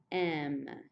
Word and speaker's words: aiment: il and el pluriel, they end in E-N-T, but you don't say it. You just end with a strong sound on the letter that comes before the E-N-T. So this is pronounced ils, M.